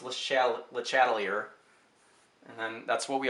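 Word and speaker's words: Le Chatelier: Again, bonus points if you convince people that it's pronounced LeChatlier.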